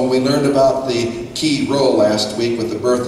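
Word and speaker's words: Chi Rho: birth of Jesus and we pointed out the key role and it looks like chimo but it's key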